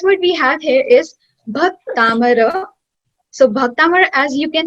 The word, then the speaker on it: Bhaktamara: I want your lips, like you should pronounce it with me. Bhaktamara.